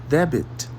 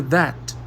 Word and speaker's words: debt: Você quer dizer debit, mas o professor te corrige. Não, o B é mudo. Diga that.